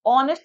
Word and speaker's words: honest: So honest में H is silent, so that is what? H has been elided.